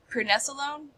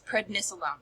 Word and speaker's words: prednisolone: 30 Mig of um pressone pressone I can't I can never pronounce it pricone yeah it's prednisolone okay so I take 30